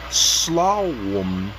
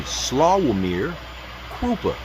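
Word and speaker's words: Sławomir Krupa: e operational headquarters areas served worldwide key people slum Excuse me. Slawir Krupa. He is their CEO and his name is spelled S L A W O M I R K R U P A.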